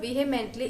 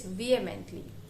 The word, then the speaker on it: vehemently: word is used vehemently here h is silent you won't pronounce this word or this word as vehemently it is not vehemently it's vehemently hope you got it